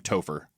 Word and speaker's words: Topher: How do you pronounce his first name? His real name, Yeah. not the character name, Topher.